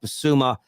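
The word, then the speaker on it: Bissouma: Basuma and Adoji.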